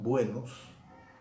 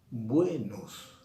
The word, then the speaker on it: buenos: Yo digo buenos, pero lo que estoy haciendo es decir buenos. No estoy pronunciando las dos sílabas con la misma intensidad. Y tampoco estoy diciendo buenos.